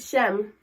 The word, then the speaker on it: shame: I don't shem.